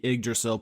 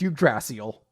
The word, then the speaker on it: Yggdrasil: you see the the Yggdrasill poking up through the the water and excuse me Austin I've played Tales of Symphonia and I believe it's pronounced you drasi ole come on there's gonna